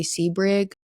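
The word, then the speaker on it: Sebring: A few more well-known names were Abigail Forager and then Jay Seabrig. I believe I'm pronouncing that correctly.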